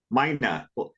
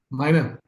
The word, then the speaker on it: Meine: 2 syllables. Meine. Like a Meine bird. Yeah, Meine.